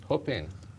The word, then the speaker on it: Huping: Huping. Like whooping cough? Or You pronounce it that way.